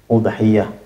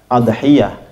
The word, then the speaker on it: udhiyah: Pasal ini menjelaskan tentang udhiyah, ya. Bidhammil hamzati, ya, domahnya hamzanya didomahkan, jadi u bacanya. Fil ashhuri, ya. Kebanyakan orang membacanya udhiyah. Ada yang membacanya adhiyah, tapi yang masyhur adalah udhiyah.